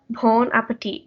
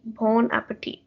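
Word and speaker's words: bon appétit: in the french language you actually don't pronounce the last t in at the end of the word it's just pronounced bon appetit bon appetit uh does anyone want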